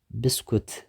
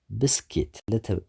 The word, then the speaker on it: biscuit: 11 biscuit ብዙሓት ሰባት ብስኩት ወይ ከዓ ቢስኩት ንብሎ ንኾን ኢና። እቲ ቁኑዕ ኣገባብ ግን ብስኪት ሲለብል ኣለዎ። እቲ ስትረስ ኣብቲ ቀዳማይ ሲለብል እዩ ማለት እዩ ብስኪት። 12 ፍላወር ሕሩጭ ማለት